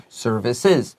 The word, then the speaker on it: services: Now, service 服务有 s 的结尾的发音，所以如果它调复数还是第三人称，那个要加一个 es 还是就加一个 s，它的发音会变不一样。So services, write down es 下面 write iz services.